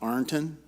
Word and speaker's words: Ironton: I want to make sure I thank the Ohio Southeast and all of you that joined us here in Ironton, and I was told it's pronounced Arnton.